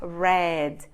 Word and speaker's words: read: vai escrever o wi-fi mas a pronúncia no passado muda para Red e do passado particípio